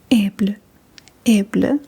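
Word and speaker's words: æble: So let's just write down Able.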